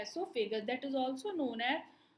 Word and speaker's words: एसोफेगस: ओ इसमें जो होता है वो साइलेंट होता है, इसलिए इसका प्रोनाउंसिएशन ई से होता है एसोफेगस।